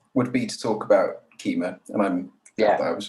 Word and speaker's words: Kyma: start with um would be to talk about keema and i'm yeah i was pronouncing that right so i i used i used to pronounce it wrong to the carla who made it i would say kyma yeah yeah and they would say no it's